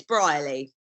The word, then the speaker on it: Brierley: on really really but how is it pronounced it's Brierley highly awesome yeah so Rose you're